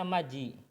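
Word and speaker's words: 맏이: Ini dibacanya maji.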